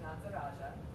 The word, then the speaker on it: Nataraja: And there's a cool thing in Sanskrit where you don't actually pronounce the R like we do in English. So every R, this is food for thought, you might not do it this time, and not pronouncing it right is also perfect, you know. But so it's kind of a rolling R almost.